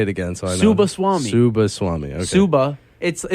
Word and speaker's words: Subbaswamy: He doesn't know how to pronounce the full thing. I need you to say it again so I know. Subbaswamy.